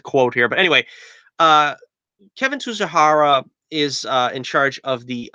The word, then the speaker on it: Tsujihara: out the guy's name what's the name Kevin to shahara that's how you pronounce his name again I lost a lot of the quote here but anyway Kevin tsujihara is in charge of the DCU Warner Brothers